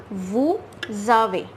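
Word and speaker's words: vous avez: As we have learnt earlier, EZ is always pronounced as A in French. So what will become? V and this A. It will become way.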